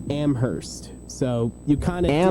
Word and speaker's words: Amherst: So, the way you pronounce it is UMass UMass Amherst. So, you kind of Amherst.